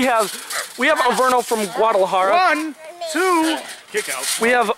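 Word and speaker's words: Guadalajara: as the native from guad how do you pronounce it guadalahara guadalahara Mexico they just pay me to read you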